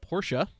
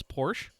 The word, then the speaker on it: Porsche: as it turns out he does not pronounce the at the end of Portia he just says Porsche of course he is